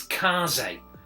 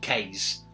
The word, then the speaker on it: Kaze: a different way and you're supposed to pronounce it as kaze kaze and the wild masks i'd have said case myself but uh there we